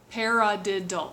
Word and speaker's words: paradiddle: same hand and even say the word paradiddle paradiddle it has four syllables to it when the